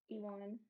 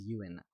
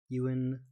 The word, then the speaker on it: Ewan: That is a common mispronunciation, but it is Ewan. I wanted to ask you if I'm pronouncing yours right, also. Finn? Yeah. Yeah. Okay, Yeah, I just just Finn. say it like the fish fin, yeah. Okay, good. But yeah, I usually tell people Ewan, like the actor Ewan McGregor.